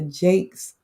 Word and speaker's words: Jacquez: my family that's looking i know that says my nephew's name jacquez but for them it's pronounced jakes okay and so we